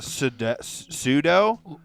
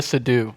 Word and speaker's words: Seydoux: Leah Sudol. Leah Seydoux.